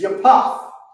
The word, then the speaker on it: Yapath: The proper pronunciation is Yapath. What you got? There it is. Most High in Christ. Yapath. That's Japheth. Right?